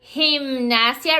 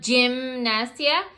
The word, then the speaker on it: gimnasia: Gimnasia, remember, not gymnasia, because it's a sound.